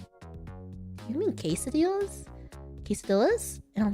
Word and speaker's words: quesadillas: I used to pronounce uh uh quesadillas quazadillas. I pronounced it quazadillas for the longest time and no one ever